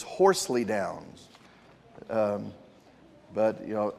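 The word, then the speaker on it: Horsleydown: He was the pastor of the, if you pronounce it the way it's spelled here, it's the Horse Lie Down in Southwark. These are pastors in England and Wales. I believe the pronunciation for this is Horsley Downs.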